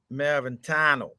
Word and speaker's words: Maraventano: You got to be from New Jersey to be able to pronounce his name. Maraventano.